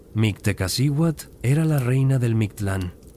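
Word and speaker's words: Mictlan: Mctteekasiwat era la reina del MClan pronunciado Miktlan, el inframundo Mejica, el nivel más profundo y oscuro de los nueve niveles del más allá.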